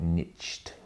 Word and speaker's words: niche: This is where there's a number of people who've been preaching niche, or the Americans call it niched, or how they pronounce it.